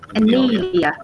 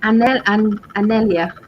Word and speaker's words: Anelia: Anelia. Anelia. Yeah. You say it like Daniela without the D. Ah, Anelia.